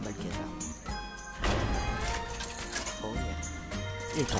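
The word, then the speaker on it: Malchezaar: Mais que fait Malkézar ici? Désolé pour la prononciation, je crois que c'est Malkézar.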